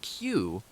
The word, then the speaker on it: queue: Pronounced Q, the word retains the same sound even when its last four letters, U-E-U-E, are removed, leaving just the letter Q.